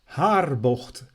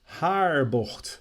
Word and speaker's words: Haarbocht: So, corner number 1, Haarbocht, Haarbocht, named after De Haar, the village that it is closest to.